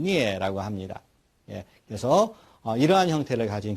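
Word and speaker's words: 疒: 뜻은 병들다, 음은 역, 발음은 니에라고 합니다.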